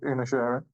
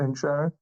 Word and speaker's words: Inisherin: your your result of inner sharing or in Sharing however we pronounce choose to pronounce it yeah it's essentially so it's like inish and then Aaron yeah exactly so today